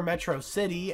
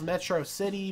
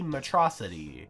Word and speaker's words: Metro City: their little flying Chase Metro man calls Metro City matrosity and the only person who pronounces it like that is MegaMind this little blunder